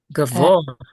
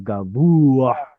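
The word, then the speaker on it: גָּבֹהַּ: So yeah, it's probably a passive participle, and we get the o instead of u because of the guttural. Gavoa instead of gavua, it becomes gavoa.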